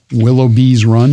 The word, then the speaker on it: Willoughby's Run: Of course, Willoughby's Run. Mm-hmm. Did I say it right? Gotta have the S.